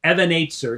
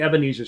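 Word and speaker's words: Even Ezer: correctly they they're thinking Ebenezer Scrooge you know it means Stone of help so you say it rightly as the Hebrew would be Evan if and it might open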